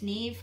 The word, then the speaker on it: Niamh: My name's Neve, or Neve, and N-I-A-M-H, and you know, the Irish spelling, and so I understand that it's very difficult to pronounce.